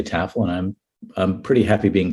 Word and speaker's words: Tafel: Like I imagine someone saying, after the main course, we'll be serving a lovely Tafel drizzled in caramel.